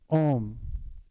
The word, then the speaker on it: Om: um om is is pronounced om when we chant it's majority o and finish with m it's really good to